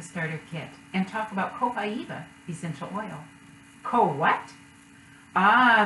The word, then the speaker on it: copaiba: I've learned about copaiba yes that is how it is pronounced copaiba copaiba essential oil is steam